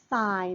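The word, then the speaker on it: ทราย: นี้ จึ ง อ่ า น ว่ า ท ร า ย นั่ น เ อ ง น ะ ค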